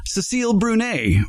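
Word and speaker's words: Cécile Brünner: I decided to get a and I will pronounce it correctly now Cecil brune Rose for my own garden just to remember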